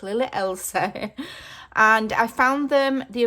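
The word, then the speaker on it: Lily Elsie: Sometimes I say Lily Elise. I pronounce it wrong. It's Lily Elsa.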